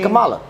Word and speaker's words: Kamala: I think if it's you Kamala, just say Kamala. If you stop ignoring me, I think if you just take this in, there's no R.